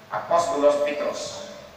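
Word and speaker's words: Απόστολος Πέτρος: Voilà, comme l'apôtre Pierre, Pétros, Apostolos Pétros. C'est comme ça on le prononce en grec.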